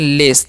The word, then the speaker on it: lace: Next है हमारा LACE, तो इसे हम पढ़ते हैं लेस। जब भी CE रहेगा ना तो उसका उच्चारण स करना है, ये भी ध्यान रखना है, ठीक है।